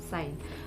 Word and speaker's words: sign: the letter z is silent and it is pronounced as s-i-n sign and also foreign f-o-r-e-i-g-n in this let in